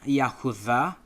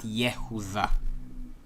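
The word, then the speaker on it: יהודה: Now, the reason why I said ul Yahuza instead of weh lihuza is because we pronounce Yahuza and not Yehuza.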